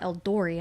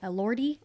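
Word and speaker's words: Elordi: I always want to say Eldori and I'm like that's not it. It's El Elori.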